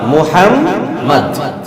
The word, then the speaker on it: মুহাম্মদ: আরবি বিশুদ্ধ উচ্চারণ কি হবে? মুহাম্মদ।